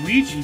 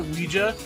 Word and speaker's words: Ouija: Seances, for example, or Ouija boards. I think you're supposed to pronounce that Ouija, but it's so common to say it Ouija that whatever.